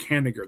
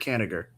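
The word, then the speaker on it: Kanigher: Robert Caner. That's how you pronounce the guy's last name. Yep. Robert Caniger.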